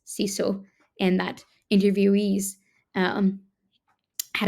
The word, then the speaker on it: sisu: not sauna it's Sal it's not sisu it's siso and that interviewees um